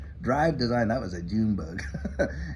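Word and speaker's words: Dryve Design: a branding company up there in Canada called Drive Design. Drive Design, that was a June bug. Anyway, it's spelled D-R-Y-V-E Design up in Canada.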